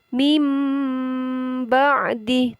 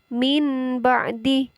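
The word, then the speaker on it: مِنْ بَعْدِ: Jadi cara membacanya bibirnya harus rapat. Mim ba'di, tidak boleh min ba'di, akan tetapi mim ba'di.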